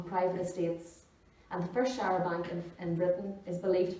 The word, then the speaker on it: charabanc: So a showerbank, I've been told, is how it's pronounced according to Google. A showerbank, originally horse-drawn, and the name comes from a corruption of the French Showerbank.